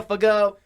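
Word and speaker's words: Fagot: mental linebacker everyone talks proudly of him diego fago proud of you to get your signing and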